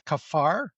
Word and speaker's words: kaphar: And um so, it's the the word is kaphar. K A P H R. That's how it sounds. That's how you pronounce it. K A P H A R. Kaphar. And that sounds just like our word cover.